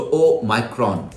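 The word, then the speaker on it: Omicron: सो ओ माइक्रॉन, this is हाउ इट is pronounce.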